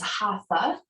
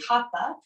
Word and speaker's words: Hatha: you may also hear it pronounced as Hatha in studios which is fine too um but in the Sanskrit it's actually Hatha um and so in